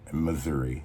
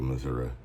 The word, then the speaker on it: Missouri: to pronounce it like most M but um Missouri that's how I pronounce it I don't do Missouri I don't I don't don't know where that